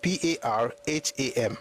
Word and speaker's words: Parham: Then param is, your param is correct. Parham.